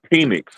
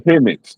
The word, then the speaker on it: Penix: And And that's not his name is not pronounced penix. It's Pennix. Like a like a like a ballpoint pen.